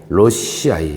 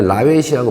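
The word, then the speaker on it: lawesii: 로시아이. 옛날에 라웨시라고 발음했는데 사실은 실제적으로 보니까 로시 또는 로시아이 뭐 이렇게 부르는 게 맞는 것 같아요.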